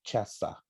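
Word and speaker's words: Caesar: e o César não esse aqui é um título no latim chefa como se escreve igualzinho como César mas se pronuncia caçar quer dizer Imperador hum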